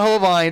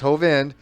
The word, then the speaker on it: Hovind: thinking about true pism it's not hovind it's hovind but K another person